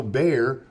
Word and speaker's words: Bexar: in Bear County so bear be x a r is pronounced bear like the Bear right so bear the word